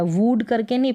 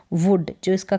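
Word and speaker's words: wood: और ये है वुड यहां पर डबल ओ का उच्चारण शॉर्ट हो रहा है वुड करके नहीं पढ़ रहे हम पढ़ रहे हैं वुड जो इसका करेक्ट उच्चारण है वो है वुड वुड का मतलब लकड़ी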